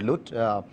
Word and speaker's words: LUT: There are different pronunciations, but I will use the word LUT correspondingly as given here, or a LUT.